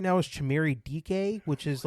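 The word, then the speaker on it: Dike: D I K E by the way. That's how it's spelled. DK, but it's DK, but it really spells dyke.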